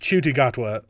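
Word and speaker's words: Ncuti Gatwa: you spell his name hold on chy it's pronounced chudy gatwa but NTI Gat yeah see I can pull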